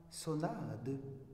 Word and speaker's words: sonade: y parlerait leur langue, on dirait dorénavant sonade, cantade, ainsi qu'on prononce balade, sérénade, etc.